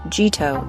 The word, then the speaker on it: Jito: On Solana, Jito, pronounced Jito, is the must-have upgrade.